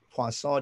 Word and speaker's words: Poisson: This is what creates counting statistic noise or Poisson distribution noise, if you care to look it up. That's like poison spelled with two S's.